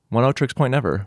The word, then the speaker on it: Oneohtrix Point Never: Last night, Dan and I, we went to Pioneer Works in Red Hook to see 100 gecs point never. That's how you pronounce it? 100 gecs point never.